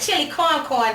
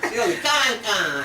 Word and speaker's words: chili con: they call it chili corn down south. Ain't no corn in it, though. No. Chili con. It's corn. I've been saying it wrong. It's con. I thought they were saying corn.